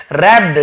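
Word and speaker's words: wrapped: अब क्या हुआ देखिए, हल्कू once again रैप्ड the seat, अब हल्कू ने फिर से रैप्ड, ठीक है, डब्ल्यू यहां पे साइलेंट होता है, रैप्ड यानी होता है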